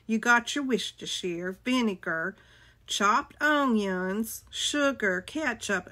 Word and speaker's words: Worcestershire: It says Worcestershire sauce. That's not right. It's Worcestershire. Worcestershire.